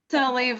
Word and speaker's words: Saliv: Saliv? Saliv, like believe.